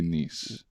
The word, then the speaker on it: Nice: specific accent there yes in here you spell it nice but in France we say nice okay I think it's